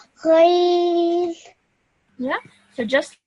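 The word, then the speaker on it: غين: Ghain.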